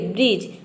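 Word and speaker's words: bridge: पे D silent रहेगा देखिए ब्रिज ब्रिज में आप देख सकते हैं कि डी को हम ड प्रोनाउंस करते इसका प्रोनंसिएशन होता है ड इसमें देखिए ब्रिज में ड का कहीं प भी साउंड नहीं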